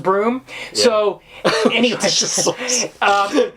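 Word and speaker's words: Bruttenholm: is spelled and uh it's actually pronounced broom so anyway um it's spelled like brutin Holm brol yeah so this is a pronounced broom it's pronounced broom which we're told in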